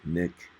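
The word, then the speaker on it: Nik: That's spelled N-I-K, Nick, as in I have a nick in my face.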